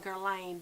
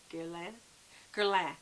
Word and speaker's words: Guerlain: People call it Guerlain, but I think it's Guerlain. Guerlain. That's what it is. The I isn't pronounced it.